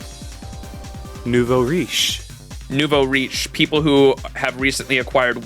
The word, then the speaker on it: nouveau riche: kind of how do you say that not nabo Nouveau nouveau nouveau riche Nuvo Reach people who have recently acquired wealth nuvarish I